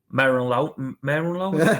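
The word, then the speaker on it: Merlin Röhl: Merlin Rohl, is that how you pronounce it? Merlin Rohl. Yeah.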